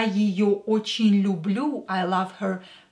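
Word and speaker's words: её: Я ее, е, not stressed, pronounce it as и.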